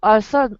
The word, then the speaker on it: author: Are you author? Writing novel. Writing novel. Oh, an author. Author. Don't be shy. Yeah, there you go. Author. Don't be shy to stick your tongue out when you pronounce that TH, Grace.